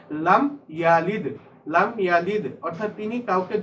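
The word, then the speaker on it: لم يلد: উচ্চারণটা দেখো, এখানে দাল কিন্তু কলকলা হরফ, বাউন্স করে উচ্চারণ করতে হয়। লাম ইয়ালিদ।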